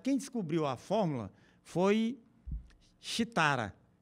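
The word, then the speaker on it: Sridhara: descobriu a fórmula foi xitara que era um indiano que é se escreve com s r i t h a ra shitara né O Teorema de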